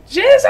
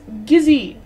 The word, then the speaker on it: Gizzy: Gizzle. Oh, wait. It's It's Gizzy. Gizzy, I'm so sorry. I said your name wrong.